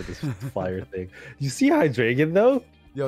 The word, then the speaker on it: Hydreigon: Oh, why do I always say Hydreigon?